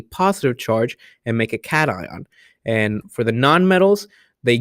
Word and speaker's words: cation: positive ion a cation now it's notation its cation so pay attention to the pronunciation on this one and then if we